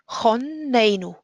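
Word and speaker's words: חננו: Choneinu. This is a closed, unstressed syllable. The stress is on the a. Choneinu. Meitcha dea bina vehaskel.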